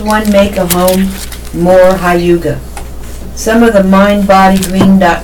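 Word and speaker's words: hygge: from the Danish notion of comfort pronounced Hyuga the down has launched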